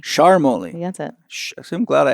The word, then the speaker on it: Charmoli: Charmoli. Charmoli. That's it. I'm glad I asked. Otherwise, I've been maybe using your name wrong.